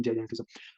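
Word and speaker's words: gigantism: और इसमें दोनों में फर्क पता क्या है, ये जो गाइजेंटिज्म है ना, इसकी प्रोनाउंसिएशन आप जो मर्जी पढ़ लें, गाइजेंटिज्म जाइजेंटिज्म।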